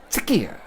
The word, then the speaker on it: TSCEA: Now, some people have asked me for the proper pronunciation of TSCEA, and it is this: TSCEA. The TSC is pronounced tisk, as in telling somebody off, voicing disapproval.